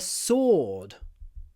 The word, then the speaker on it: sword: next on is a sword he picked up the sword sword it has a w but you don't need to say it it's not a sword